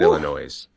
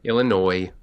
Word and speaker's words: Illinois: I almost said Illinois, but Illinois. I get it. I know the S is silent.